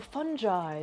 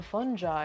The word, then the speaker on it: fungi: kept saying like the fungi the fungi and i was like what so i had to look it up because i was like that's not how it's pronounced and apparently it's both i'm sorry i'm